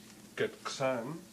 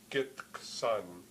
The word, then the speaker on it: Gitxsan: you hear it go Gitxsan, Gitxsan. But there are many people in the East who, rather than have a K sound there, rather than use a stop, they pronounce it with a fricative.